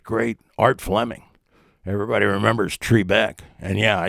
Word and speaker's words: Trebek: Everybody remembers Trebeck. And yeah, I said Trebeck, not Trebek. That's the way it's pronounced, or was.